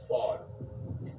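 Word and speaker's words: ephod: was called and it's it's spelled EP h o d but the way you say it is fod okay so right here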